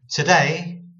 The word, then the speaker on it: today: We actually dull this O sound. Okay, today. Because we're putting the emphasis on day, on the syllable, two syllables. We're putting the emphasis on the second syllable, day.